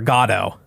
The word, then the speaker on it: Godot: I learned recently that the proper pronunciation is waiting for Godot.